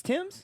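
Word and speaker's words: Tems: is that how you say her name it's tim's yeah oh okay so i don't i don't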